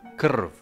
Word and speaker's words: krv: You find something similar in modern languages, for example, krv, which means blood in Croatian, whereby r is the heart of the syllable, that is the vowel in this case.